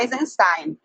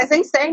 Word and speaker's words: Eisenstein: meu professor diz que a gente não deve falar Eisenstein. Como é russo, a pronúncia não pode jamais tender para o americano. Seria Eisenstein mesmo.